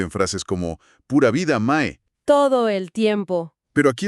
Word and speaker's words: mae: Y la primera palabra que cualquier visitante va a escuchar probablemente en los primeros 10 minutos tras salir del aeropuerto es mae. Mae. Se escribe M-A-E, ¿verdad?